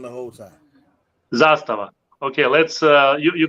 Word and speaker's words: Zastava: my name exactly and it's very easy to pronounce it zastava you just put a stress in the first part of the world yeah we need billy